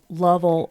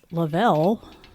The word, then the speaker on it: Lovell: I heard that you said Lovell earlier. Reading it, it's double L's, so I was pronouncing it Lavelle. Oh. And maybe I said it wrong.